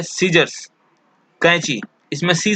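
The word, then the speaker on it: Caesar: है वह साइलेंट है इसको हम लोग चाय असर नहीं पड़ता है सीजर पड़ते हैं यह को प्रसन्न नहीं किया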